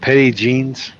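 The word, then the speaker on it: Petit Jean: if you want lunch meets let's go what Petty jeans Petty Peggy p e t i t petite oh petite okay but it's pronounced Petty Jean yeah yeah it's petite Jean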